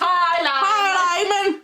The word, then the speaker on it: Heiligman: H-E-I-L-I-G Man, M-A-N. Heiligman. Es que es Dutch, dice.